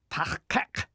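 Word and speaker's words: taHqeq: There's a new sound at both the beginning and end of the second syllable, kek. Be careful. This is not the Federation standard K sound. You make it like a K, but as you did for k, shove the back of your tongue as far back into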